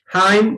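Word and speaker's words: hymn: सोल्म, हाइम, हाइम, N silent होगा।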